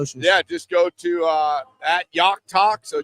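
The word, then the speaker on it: Jach Talk: Yeah, just go to uh Yockt Talk. So, J A C H Talk. The name's pronounced pronounced differently what it's spelled. So, Yockt Talk on Twitter and then obviously Joe Yock on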